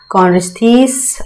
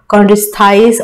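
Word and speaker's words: Chondrichthyes: Pisces में है कॉन्ड्रिस्थीस, ऑस्टिस्थीस, कॉन्ड्रिस्थाइस, ऑस्टिस्थाइस भी बोल सकते हैं, प्रोनाउंसिएशन हम लोगों पे है।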